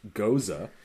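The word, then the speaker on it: Gose: This thirst-quenching ghost, and it literally says in parenthesis, pronounced goza, is a perfect balance between tart, refreshing, and citrus flavors.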